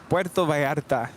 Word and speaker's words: Puerto Vallarta: Puerto Vallarta. Yeah, it sounds much better. I like that little trill on the R.